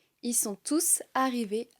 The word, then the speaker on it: tous: On prononce le S car « tous » n'est pas suivi d'un nom. Ils sont tous arrivés à l'heure pour le début du spectacle.